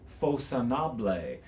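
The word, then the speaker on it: Façonnable: And the house is, I've heard it pronounced facconable. I looked it up. Actually, the correct pronunciation is Facconable.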